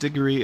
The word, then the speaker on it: Digory: It's actually well it it's pronounced Digory in modern English.